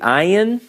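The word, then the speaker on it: ע: that remember that alright next we have the ayan no English approximation so we have two letters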